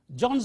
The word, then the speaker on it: John's: John's a good boy. John's. John is a good boy. Is reduced to z.